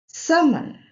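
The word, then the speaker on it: salmon: समन, समन यहाँ भी L silent है और इसका मतलब होता है a fish, water, fish with silvery scales and orange flash.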